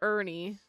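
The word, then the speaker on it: Urhney: father okay here's father Ernie I love how it's Ernie like e r n i e but it's spelled this way go away I'm meditating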